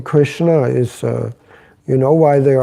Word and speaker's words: Krishna: It's Krishna. But who pronounces, from doesn't have an Indian tongue, who pronounces Krishna, Hare Krishna?